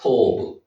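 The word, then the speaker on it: טוֹב: 거기에 토브가 나옵니다. 베트입니까? 예. 아니 이게 부잖아요. 예, 기업 발음이지. 기업 발음에 이가 가는 거지. 여기 오 발음이잖아요. 토브. 이거는 티읕. 그렇지. 오 발음. 그러니까 토브.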